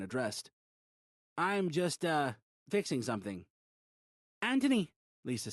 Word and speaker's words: Anthony: Anthony, Lisa said. She didn't pronounce the H, so it sounded like Antony.